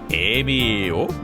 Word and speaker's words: Emio: I do like how they say it, like, Emio.